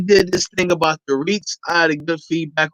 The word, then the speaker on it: REIT: We're going to go ahead and give a little overview of the REIT. So REIT, spelled REITS, but it's pronounced like it's spelled REETS, a REIT.